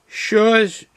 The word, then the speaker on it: Schorsch: It's produced by a Franconian company, and it's called, now get this, I don't know if I can say it correctly, Schorsch. I just spell it.